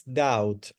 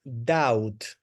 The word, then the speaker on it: doubt: okay the pronunciation is doubt ow ow and the letter B is completely silent so you pronounce doubt doubt not do D